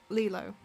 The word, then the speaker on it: Lilo: Lilo, right? Lilo. Like Leela, isn't it?